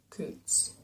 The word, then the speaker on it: Koontz: from the corner of his hi by Dean Koontz that's how you say his name good so